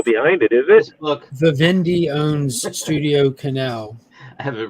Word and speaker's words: Vivendi: It's pronounced Vivendi. Like that's accurate, actually. Annie, my boy.